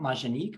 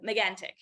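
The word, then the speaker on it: Mégantic: really cool astronomy facility there um at Mount majinique am I pronouncing that correct uh megantic meganic thank you Astro lab right yeah yeah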